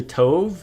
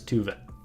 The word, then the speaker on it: Tove: about tuet so yeah people say Tove it's tuet um that's Swedish and